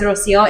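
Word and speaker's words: Rocío: But I'll always pronounce it as Rocio. And I'll even tell people like, if you can't roll the R's, that's okay.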